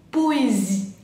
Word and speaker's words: poésie: Después tenemos poésie. Poésie es poesía, se entiende de palabra re transparente. Poésie. La S, acuérdense, z, zi. Y la E final no la pronunciamos. No digo poésie, digo poésie.